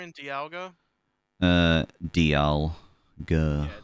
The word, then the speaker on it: Dialga: Dialga and Dialga? Dialga.